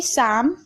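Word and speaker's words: psalm: शाम, देखिए पी है, पी को हम नहीं पढ़ रहे हैं, भजन होता है।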